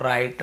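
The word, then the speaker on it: write: सीधी सी बात है हमें जब भी ऐसे कहीं मिलता है डब्ल्यू आर के साथ एक साथ हमें केवल ऐसे पढ़ना है। Wrong राइट rap rapper रिंकल और रिस्ट और रैक वगैरह ऐसे भी होता है।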